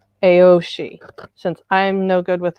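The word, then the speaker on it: Aos Sí: The Aoshi, which the Sidhe, in his videos, there's an A and an O word preceding it, and he pronounces the whole thing Aoshi.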